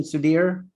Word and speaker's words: Sudhir: also with sudir is that the right pronunciation sudhir yes it is that's great great we are